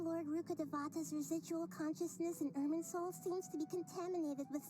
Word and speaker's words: Irminsul: Irminsul, that's how you pronounce it.